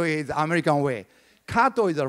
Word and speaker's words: Kato: Kato real name is the cut off your pronunciation do something wrong ok Kato is the American Way Kato is a right way to pronounce all right